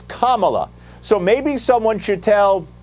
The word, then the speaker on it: Kamala: the correct way to say her name it's kamala so maybe someone should tell joe biden that's